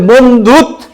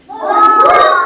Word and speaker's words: বন্ধুত্ব: ত বলা ত ওকে বুঝতে পেরেছ এই যে বন্ধুত বন্ধুত আবার আরেকটা ত বেশি চলে আসলো বর জন্য